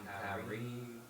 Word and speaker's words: Careem: Careem it is. I'm Careem.